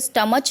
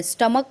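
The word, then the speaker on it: stomach: जैसे यहाँ पे सी एच है तो हम एस टी ओ एम ए सी एच क्या पढ़ते हैं, स्टमच नहीं पढ़ते हैं, स्टमक पढ़ते हैं, क।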